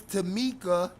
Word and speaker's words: Tamika: Carla, who is Tamika Jenkins, rhyming with Kanika Jenkins, made up the fake page.